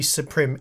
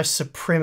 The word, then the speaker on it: Suprim: So many months ago now, MSI sent me their RTX 3090 Suprim X. I'm going to say Suprim. I think it's meant to be Supreme, but it's spelt Suprim.